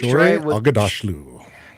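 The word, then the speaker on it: Shohreh Aghdashloo: I always get this lady's name wrong. Shore Agdashlu. Okay, Shore Agadashlu.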